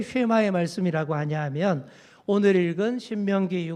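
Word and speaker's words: שמע: 세마의 말씀이에요 자 왜 쉐마의 말씀이라고 하냐하면 오늘 읽은 신명기 6장 4절이 이렇게 시작합니다 뭘로 시작해요 이스라엘아 들으라 요거를 히브리어로 쉐마 이스라엘 렇게 발음을 합니다 쉐마가정예배 그래서이 말씀을 쉐마의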